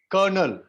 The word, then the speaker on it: colonel: Colonel.